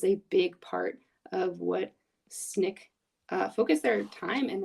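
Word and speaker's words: SNCC: Student Nonviolent Coordinating Committee also known as Snick pronounced how I'm writing it on the screen Snick was a group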